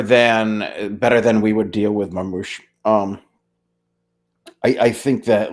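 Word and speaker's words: Marmoush: name I'm not even going to try to pronounce, but seems to be Marmouche? lighting up? Gabagool, Gabouche, It's Marmouche.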